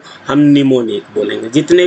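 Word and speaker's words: mnemonic: हम अपने assembly language में बोलते हैं निमोनिक और इसकी स्पेलिंग होती है न्यूमोनिक।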